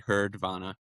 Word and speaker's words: Herdvana: spell it for you because a lot of times our our D is silent, but it's H E R D V A N A, heardvana.